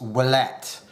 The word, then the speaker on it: Ouellette: I'm American by birth, but my family is French Canadian, and the last name Oullette in French is pronounced Ouellette.